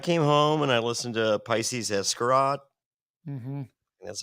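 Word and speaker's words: Pisces Iscariot: I came home and I listened to Pisces Escarot. That's how you pronounce it.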